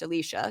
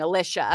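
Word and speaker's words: Elisha: pronounced Alicia cuz I was always saying Alicia.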